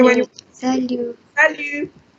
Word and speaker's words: salut: What do you say when you Salut. salut? Salut. Salut. The T is silent. You don't pronounce the T here.